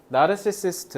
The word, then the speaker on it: narcissist: 그래서 듣기가 되게 어렵다라는 이유는 뭐 때문이냐면 나르시시스트 나르시시스트가 뭐예요? 자 어 나르시스트라고 잘못 발음하는 친구들 많던데 나르시스트야 알겠지?